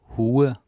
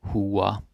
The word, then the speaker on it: hue: Hue or hua.